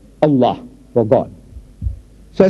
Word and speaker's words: Allah: pronounce the way we are asking you to pronounce our language it is not it's Allah try try try Allah not so next one that comes out Scofield